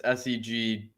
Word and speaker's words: segue: But Ross is telling us it's SEGWAY. Okay, Segway. Well, comment in the chat how you. Segway. That's the thing you drive. It's spelt like that.